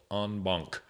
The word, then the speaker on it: en banc: But there is another step in the process that sometimes happened and it's called onbunk. It's spelled enban c and it basically means the whole court, the whole 9inth circuit would hear it.